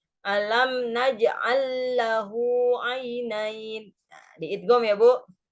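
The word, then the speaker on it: أَلَمْ نَجْعَلْ لَهُ: Alam naj'al lahu ainain. Nah, ini kan lamnya ada dua nih. Yang lam yang pertama naj'al disukun. Yang depannya juga ada lam, lahu. Nah, itu diidgham, di tasjid, Bu.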